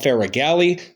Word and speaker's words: Faragalli: studio downtown Ridgeway with none other than Rob figali welcome to the show Rob hey Brent thank